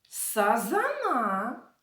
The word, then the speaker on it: сазан: ловити рибу лука піймав сазана карася наголос в назвах цих риб падає на другий склад сазан карась а лука впіймав окуня